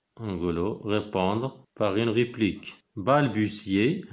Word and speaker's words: balbutier: balbutier هنا كتنطق تي اس. balbutier تأتأ أو تأتأ دونك كيهضر بواحد الهضرة اللي مفهوماش ولا متردد.